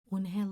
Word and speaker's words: Unhai: Unhai looked quickly at Mr. Kim, then turned to Joey. She nodded slowly. "Yes, it's pronounced Unhai, and it means grace," Mr.